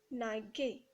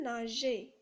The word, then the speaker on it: nageais: directement à la terminaison, cela donne je naguais. Parce que le G plus le A, ça donne le son G. Alors on doit ajouter un E pour avoir le son J.